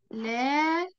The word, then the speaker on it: لكن: لكن هل كده أنا كتبتها صح؟ لا طبعا خطأ. ليه؟ لأن لكن بتكتب هكذا، لام كاف نون، لأن ما فيش ألف ما بين اللام وما في والكاف، ما فيش ألف من اللام والإيه والكاف.